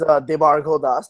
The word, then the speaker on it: Debarghya: My name is Debarghya.